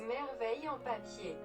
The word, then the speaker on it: Merveille en papier: But according to Google, it's Merveille en papier.